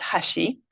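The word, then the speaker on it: 橋: In Japanese it's pronounced hashi.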